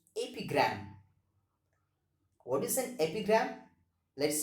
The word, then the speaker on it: epigram: that is ap gram the pronunciation of this word is ap gram what is an epigram